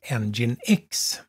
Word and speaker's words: nginx: lite mer om webserver engine x ngin x som det uttalas men eller som det stavas men det uttalas engine X en väldigt kraftfull